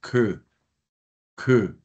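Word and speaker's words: כְּ: Entonces, sin más preámbulos, comencemos entonces a trabajar la preposición de pronunciación que, Shiva, lo pronunciaríamos como una E cerrada, que, y obviamente la kaf se pronuncia como lo que es.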